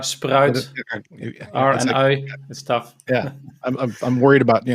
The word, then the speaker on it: Spruijt: tough to pronounce but everyone knows fanta coca-cola sprite and sprite is close to sprout so if you say sprite i will listen and if you just